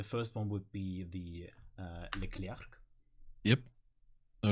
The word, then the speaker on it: Leclerc: The first one would be the Leclerc. Yep. All right. Let's hear it. Leclerc! Yeah, totally fine. I mean, the French would probably be like, the K is silent at the end.